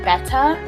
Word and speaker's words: betta: fish now I know a lot of people pronounce it better but I pronounced it beta for my whole life and I'm not gonna